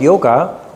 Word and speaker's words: yoga: If you look at the word yoga, when you talk with Indian people, they usually don't say yoga. When Indian people talk about yoga, they say yog. They don't pronounce the A.